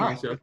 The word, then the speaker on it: Asiasi: Is that how you pronounce it? Yeah. Okay. Devin Asiasi. Yeah. Just like it's done.